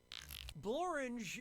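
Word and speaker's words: Blorenge: I love this part borange is a real place and it really rhymes with orange alright if you visit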